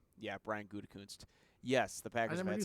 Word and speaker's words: Gutekunst: Yeah, Brian Gutekunst.